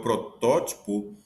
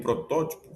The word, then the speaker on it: protótipo: O dois, Adão é o protótipo de todos os homens. O termo protótipo foi usado de modo equivocada, cometendo um erro chamado silabada, pois sua forma correta é protótipo.